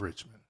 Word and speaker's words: Richmond: that's just going viral you've been saying it wrong the whole time tell me how to say it rich man rich man north of Richmond Oh I thought it